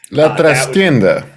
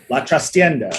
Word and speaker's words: La Trastienda: If either Miss Jessica or Robo would like to look in the Discord and tell me how to properly pronounce that. La Trastienda. La Trastienda.